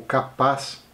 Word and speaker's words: Kappa: criaturas da mitologia japonesa os capas que na pronúncia na pronúncia exata serem algo como capaz Eles são um tipo